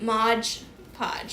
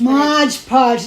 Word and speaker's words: Mod Podge: jewelry but people say Mod Podge Modge Podge yeah but it's mod pod m o d but they say it like m o d g yeah but we know